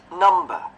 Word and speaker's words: number: Chữ này sai chúa luôn nè. Nấm luôn. Nấm nấm đầu. Ok. Nấm. Nấm à. Viết viết theo kiểu chính tả miền Bắc đọc đàng hoàng nha. Number. Nấm này nhá.